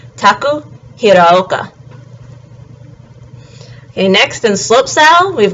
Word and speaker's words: Taku Hiraoka: And then last of the half-pipe snowboarders with Japanese men is Taku Hiraoka. And again, he's got the Ao sound in his last name, so it's Taku Hiraoka.